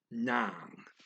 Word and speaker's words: nang: Okay, we, kami, at, this is NG, nang. It's one of those words that does not spell like it sounds. NG is nang.